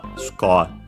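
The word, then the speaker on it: スコア: Its accent is on the ko as expected, and yeah, just like in English, score.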